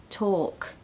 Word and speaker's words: talk: I hear people saying walk and talk and actually it's more walk talk okay so no l